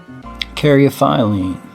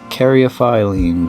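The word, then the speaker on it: caryophyllene: almost everything you buy carry a filing or paraphylene or however you want to say it i say it carry a phylem because of how it's said or how it's spelt and how they how they worded out in the dictionary so caryophiline is primarily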